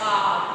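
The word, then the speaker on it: hour: H is silent. So I pronounce it as R.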